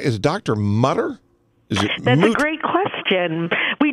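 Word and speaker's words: Mütter: Mutter, but I believe if you add an umlaut, you're going to change the pronunciation.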